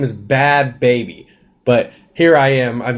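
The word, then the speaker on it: Bhad Bhabie: So anyway, but I pronounce it now. Bad baby.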